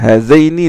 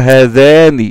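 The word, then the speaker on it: هذين: Inna hazayni la sahirayni. Hazayni c'est un démonstratif au duel. Et le démonstratif au duel, qui est régi à l'accusatif, doit être prononcé comme ça. Hazayni. Et non pas hazani.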